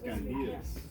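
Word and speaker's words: Kandijas: Candias.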